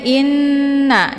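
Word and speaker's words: إنّ: Cara bacanya, hamzahnya dileburkan ke dalam huruf nun ataupun dimasukkan dengan cara ditekan, kemudian ditahan lebih kurang 2 harokat sehingga terbentuk suara yang mendengung. Innal, jadi ditahan dulu, jangan langsung dilepas ya sebelum sempurna dengungnya.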